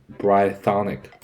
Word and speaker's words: Brythonic: And I'll say brythonic. Hey, brythonic. Brythonic. Short I, not long.